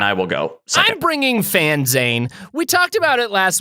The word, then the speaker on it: PhanZane: everybody fan zane p-h-a-n-z-a-n-e it's like a fanzine for phantom and the fans spelled like phantom and the zane is like billy zane okay billy zane of the phantom 30 minutes on the